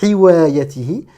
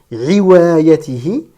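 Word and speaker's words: حوايته: Ce n'est pas un ha, ce n'est pas hiwayatihi, ce n'est pas la lettre ayn, donc on ne va pas dire riwayatihi. Ce n'est pas une hamza, on ne va pas dire iwayatihi. On va bien prononcer le ha, cet air expiré qui sort de la gorge de manière très fluide, sans frottement, tout en douceur.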